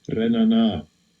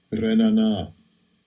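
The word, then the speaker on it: רְנָנָה: Strong's H7445, Renana, Renana. Alright, that's how it's pronounced.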